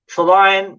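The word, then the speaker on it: Trillion: Trelion, I always pronounce it that way, just with the pun of the word, saying it like that.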